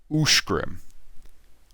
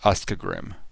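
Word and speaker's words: Uscgrim: USC would be Ushgrim. Not Uskgrim. Ushgrim. Ushgrim. That makes sense. And not Uskgrim.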